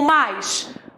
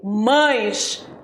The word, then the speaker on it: mais: e olha lá o mais você prestou atenção na minha pronúncia eu não falei mães eu falei mais não existe mães existe mais devo pronunciar mais para